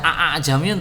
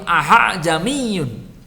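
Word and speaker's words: أَأَعْجَمِيٌّ: Membacanya tidak a'ajamiyun tapi ahajamiyun. Bukan juga a'ajamiyun. Itu sudah kita bahas kemarin. Membacanya ahajamiyun.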